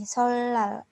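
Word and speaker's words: 설날: seperti Conto kata ini solal solal kan tulisannya tuh sol Nal tapi dibacanya itu e solal jadi eh berbunyi l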